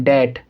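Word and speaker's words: debt: B का sound नहीं निकाला जाएगा, तो ये क्या पढ़ेंगे? डैट। क्या पढ़ेंगे हम इसको? डैट।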